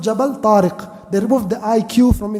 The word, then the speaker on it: Jabal: jar even as an English person you can't pronounce it it's called jabal they removed the IQ from it jabal he crosses from Spain into jabal tar into